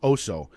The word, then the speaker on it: Oso: In fact, it's pronounced Oso.